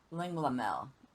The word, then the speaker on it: Linglamel: Linglamel. That's how you pronounce her name.